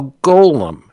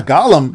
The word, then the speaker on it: golem: A Gollum, Well, Gollum is a construct. Golem is some greedy little old hobbit. But yeah, it's just it's Golem.